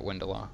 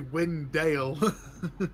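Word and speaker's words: Windalr: It's actually Windale. Windale. It's an old, it's Old Norse. D-A-L-R is pronounced Dale.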